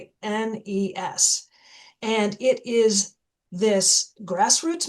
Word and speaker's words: Beguines: Now I'm going to pause and I'm going to spell that because it's incredible. Nobody has heard of the Beguines. It's Beguines.